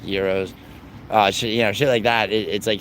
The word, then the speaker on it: gyros: Euros I know they're actually pronounced Euros uh sh you know